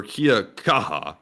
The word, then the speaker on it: kia kaha: James said, in New Zealand, we have a saying, kia kaha, or kia kaha.